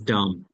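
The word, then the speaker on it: dumb: এখানে সে বোবা হিজ ডাম সে বোবা বি এর উচ্চারণ ডি ইউ এমবি ডাম সে ববা হিজ নট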